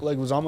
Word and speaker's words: Leguizamo: Leguizamo is how you say it.